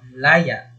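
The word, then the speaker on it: layà: So, sa malumi, pagbigkas natin ay ganito, laya.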